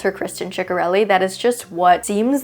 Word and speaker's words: Ciccarelli: And she did confirm that Ciccarelli is the right way to say her name, but it's one of those things because so many people say ciccarelli that she just accepts everything at this point.